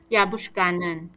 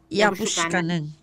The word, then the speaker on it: 雅布書卡嫩: 雅布苏卡嫩，雅布苏卡嫩，雅布苏卡嫩，那什么什么意思啊？